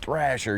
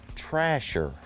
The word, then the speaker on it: Thrasher: to my attention now this last name is actually pronounced trasher so i mean you